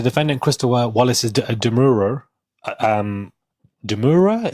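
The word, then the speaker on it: demurrer: Because the defendant, Christo Wallace's Demur, um, Deura is how you pronounce it, was mostly overruled.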